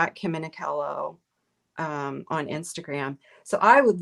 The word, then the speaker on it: Minichiello: Okay, so your website, I'm going to put it up, is I'm gonna spell it. It's Kim Minichiello, but it's Minichiello.